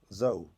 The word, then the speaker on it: Zhou: Zhou. But not Tho. No. Zhou, okay.